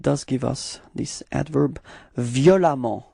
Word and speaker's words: violemment: And it does give us this adverb violemment. Okay, so same concept. You pronounce it like if there was a.